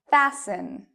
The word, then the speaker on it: fasten: s n castle castle fasten fasten okay last one moist moisten so even though you see t n t l e t n you do not pronounce the T in these words but what about often